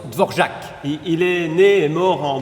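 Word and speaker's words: Dvořák: florac oui mais non c'est du tchèque oui là se prononcent dvorjak il est né mort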